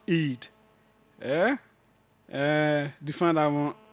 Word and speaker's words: id: I D I D E it is pronounced Eid. Eh uh define that one as well. Uh so these things boost the Eid and the libido.